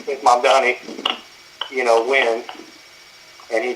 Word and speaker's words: Mamdani: Mamdani? Right. M-A-M-D-A-N-I. Right. Mungani.